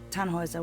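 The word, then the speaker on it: Tannhauser: what's your name tanhauser we'd pronounce it tanjoyza with an unload german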